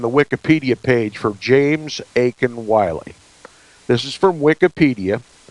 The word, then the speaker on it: Aitken: a bit with James Aiken Wiley. And by the way, his middle name is spelled Aitken.